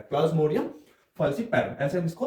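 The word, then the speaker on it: Plasmodium falciparum: प्लाज्मोडियम, फसी पैरो। ऐसे हम इसको प्रोनाउंस करते हैं पूरे नाम को।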